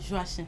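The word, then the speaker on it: Joachim: C'est Joachin. Joachin. Voilà. Merci de le dire. Joie chien qui s'écrit J O A C H I M.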